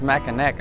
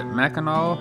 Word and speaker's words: Mackinac: So you see, the sign says Mackinac, but it's pronounced Mackinaw for some reason.